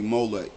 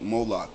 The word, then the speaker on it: Moloch: was supposed to be molec moloch molec however you want to say it is pronounced both ways it just different languages pronounced different I mean different uh cultures pronounce it different but the same